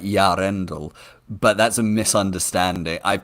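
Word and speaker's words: Eärendil: where you separate the E and the A, so it's Yarendel. It's much more subtle than that Yarendel.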